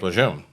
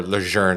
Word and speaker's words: Lejeune: heard until recently when they started promoting the correct pronunciation of Camp Lejeune. But to me, it's still Camp Lejeune. Yeah, there's no R in there.